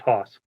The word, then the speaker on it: Haus: So good luck, Haus. All right. By the way, it's pronounced Haus. Haus, I apologize. Yeah, it is German for house, but my part of Germany pronounces it Haus.